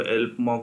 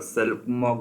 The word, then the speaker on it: Xelpmoc: आप इसको एल्प मॉक भी बोल सकते हैं, एक्स अगर साइलेंट कंसिडर करना है, और सेल्फ मॉक भी बोल सकता है, जैसा प्रोनाउंस करना चाहे कीजिए।